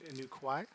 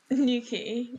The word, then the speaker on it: Newquay: How do you say the name of the airport that I'm at again? New Kwai? Nuki. You ended up at Nuki.